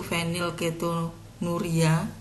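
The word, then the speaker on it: fenilketonuria: albino PKU PKU itu venil ketonuria jadi p-nya itu penil ya kalau pakai bahasa aslinya kan PH penulisannya bacanya venil ketonuria V venilketonuria nanti dijelaskan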